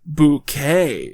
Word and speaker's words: Bucket: events of the series she's apparently decided that it's actually pronounced bouquet it's very kind of